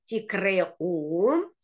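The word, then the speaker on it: תקראו: Кашер тикреу. Потому что, когда мы читаем слово «ликро», у нас есть буква «алиф», которая не произносится, и поэтому мы делаем небольшую ее остановку. «Тикре-у», как бы твердый знак здесь.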